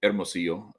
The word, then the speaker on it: Hermosillo: horner so you've got hermosio well hermosillo um if you if you speak spanish you don't pronounce the h but uh anyway hap